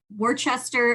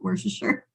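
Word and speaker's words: Worcester: the Holy Cross in Worchester I almost I almost wanted to pronounce it wor Wester m Cho sorry everybody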